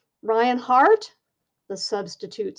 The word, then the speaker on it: Hart: My name is Ryan Hart, and it's not heart like the muscle. It's H-A-R-T, as in my last name.